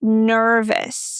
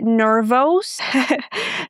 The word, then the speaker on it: nervous: For example, the adjective nervous. Oh my goodness, a lot of students say nervos. No o, okay? Vis nervous. Repeat after me.